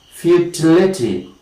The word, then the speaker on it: futility: Next is, of course, a word like futility.